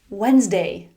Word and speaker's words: Wednesday: "Wednesday.